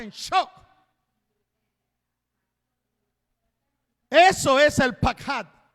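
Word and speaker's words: פחד: La palabra lo que más temía viene de la palabra pakhad, P-A-K-J-A, una D, acento en la última A. Pakhad.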